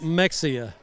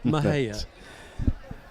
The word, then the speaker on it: Mexia: That's like Mexia. I mean, excuse me, Mahia.